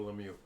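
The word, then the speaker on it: Lemieux: come on where is it lemie lemie Mario lemie so it's neither one of those Eric going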